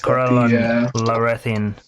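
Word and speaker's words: Corellon Larethian: I personally worship Corellon Lorethian. I think that's how it's pronounced. Yes, Corellon Lorethian.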